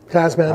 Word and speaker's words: Tasman: the Kia Tas man is that how you say it Tasman is Tasman it's like Tasmania okay body on frame